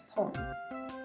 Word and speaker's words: 本: For the numbers 1, 6, 8, and 10, you want to pronounce this as pon.